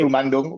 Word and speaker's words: Akbar Rumandung: And I'm joined by the bass player, Akbar Rumandung. Did I say that correctly? Uh, I probably didn't. yeah, it's Akbar Okay. Rumandung, but I know it's hard to say that, so Yeah, it's yeah, yeah.